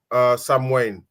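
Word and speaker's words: Samhain: Celtic um Harvest festivals particularly the festivals Sam Sam Wayne there you go so Sam ha was a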